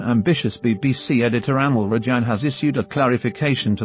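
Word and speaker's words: Amol Rajan: So Ranjan, what do you think?" The correct pronunciation is Amal Rajan.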